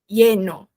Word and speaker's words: lleno: Ah, lleno. Lleno, ou seja, a gente vê o LL como I, lleno, ou a gente vê ele como um DJ, só que muito suave. Então, lleno, lleno, lleno.